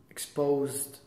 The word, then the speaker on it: exposed: Exposed. So the first, X, how do you pronounce that? X. Which is what? S or Z? S. Yes, it's KS. Exposed. Like sex is S-E-K-S, no?